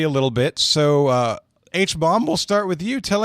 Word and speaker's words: H-Bomb: mispronounce the name yes you did it's properly pronounced h-bomb damn all right jonathan i can do